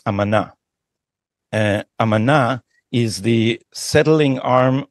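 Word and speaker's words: אמנה: So if shrapnel, so also let me correct your Hebrew pronunciation. It's amana.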